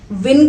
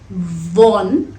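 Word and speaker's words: won: इफ यू विन, वॉन, वॉन लग सकता है कि आपको इसकी प्रोनाउंसिएशन वॉन हो, पर सही प्रोनाउंसिएशन है वन।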